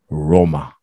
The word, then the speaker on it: Roma: How is Rome pronounced in Italy? Let's see. Yeah. Roma.